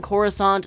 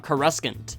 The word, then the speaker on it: Coruscant: Elegant Coruscant, not Coruscant.